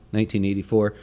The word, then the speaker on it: 1Q84: with it being 1q84 which is actually in japan as a play on words would which that would actually be pronounced in japan as 1984 and they make some